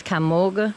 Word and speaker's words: Kymulga: In case I didn't say it, this is Kymulga Mill. Kymulga is the way people pronounce it, but I think it should be pronounced Kymulga.